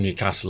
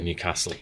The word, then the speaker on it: Newcastle: said Newcastle yes and it's only if you're from Newcastle that you say Newcastle yeah that's true and the rest of the world has a really weird pronunciation yeah Newcastle and they're wrong Newcastle and they're wrong